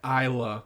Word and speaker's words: Isla: know the name Isla but I think she goes by Isa Fisher uh um I think she most certainly does go by Isa it's spelled Isla so that's not my fault you know who she